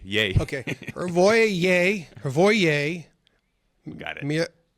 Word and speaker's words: Hrvoje: The J is pronounced like a Y, so it's kind of like Kanye. Yay. Okay. Hrvoje.